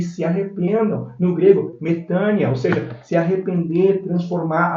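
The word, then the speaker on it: μετάνοια: ali em Atos 17:30 é metania ou metanoia como nós podemos pronunciar porque nós pronunciamos assim né mas os gregos pronunciam metania né significa também transformação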